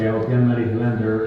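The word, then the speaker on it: Jalmari Helander: We recently found released a film last year from, I'll pronounce his name correctly, Jan-Mari Hylander, who directed Sisu.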